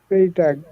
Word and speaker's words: Freitag: A G কি হয়েছে Freitag ফ্রাইটাগ Freitag হ্যাঁ ফ্রাই এই যে ই আগে তারপর আয় পরে তাহলে কি হয় ফ্রাই হ্যাঁ ফ্রাইটাগ Freitag হ্যাঁ ফ্রাই বা একটা কলার ছিল তো তার জন্য লিখলাম আর কি।